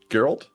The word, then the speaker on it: Geralt: Like, I don't like the Witcher games and Gerald of Rivia is in here. So, you didn't even pronounce his name right, so I guess you're right. Is it Geralt?